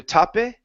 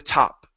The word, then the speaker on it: top: Okay, out the top instead of out the tape, it's out the top. End on the P sound without a sound afterwards.